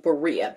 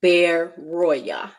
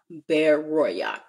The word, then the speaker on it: Berea: So they send them away at night, and they send them unto Berea, and that's actually pronounced Beroya, Beroya.